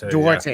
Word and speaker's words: Duarte: see the Tyler Hero, Chris Duarte is how you say his last name? Duarte. Yeah. Thank you, guys. I'm always the first time, and then I never get it wrong again.